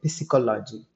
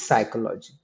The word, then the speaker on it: psychology: film instead of film pronouncing silent letters you can't say picology it is psychology same way the word